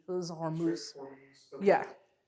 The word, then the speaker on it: Hormuz: me, the Strait of Hormuz. I think I said it right. Yeah, the Strait of Hormuz ends in Z. It was Hormuz.